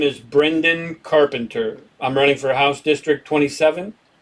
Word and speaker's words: Brendan: So it's pronounced Brenden. D-E-N? It's pronounced D-E-N, but it's spelled D-A-N.